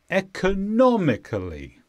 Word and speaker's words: economically: noun or a sentence the stress is on not economically economically and this means without